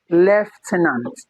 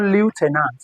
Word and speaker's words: lieutenant: before just surveys and of course this leftenant leftenant it's not Lieutenant is what left tenance